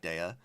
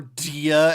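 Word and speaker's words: Dehya: the meta in Genjin, I still like Dea or or Dia as the game pronounces in English, which I I refuse to accept, but whatever.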